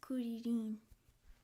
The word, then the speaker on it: Krillin: In Japanese, kuririn. Did you watch it in Japanese? You're actually closer to Japanese pronunciation. Yeah, it's because I think in Spanish it's krillin, like in at the end.